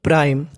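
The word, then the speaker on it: prime: पढ़ते हैं प्राईम ई प्राइम आपको एक चीज और बता दूं अगर इंग्लिश में कहीं भी लास्ट में ई लिखा है तो हम लोग ई का उच्चारण नहीं करते प्राइम प्राइम का मतलब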